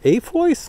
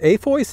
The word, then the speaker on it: AFOIS: makes this is called a voice let me just check a-f-o-i-s a voice that's how I pronounce it I don't know if